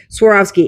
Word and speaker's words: Swarovski: Swarovski.